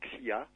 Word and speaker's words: Xia: Prononcé à la française, ça fait Xia.